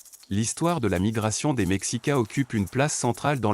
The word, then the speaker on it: Mexica: Le peuple que nous appelons aujourd'hui les Aztèques se désignait lui-même sous le nom de Mexica, prononcé Mexica.